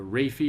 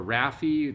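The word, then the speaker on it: rrhaphy: The raphy or raphy, the R-R-H-A-P-H-Y.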